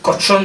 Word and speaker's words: Cauchon: la kin viva Entonces el obispo cochón de apellido que si no lo pronuncias muy bien suena a a cochino cerdo en francés pero se escribe cuchón pero cochón era el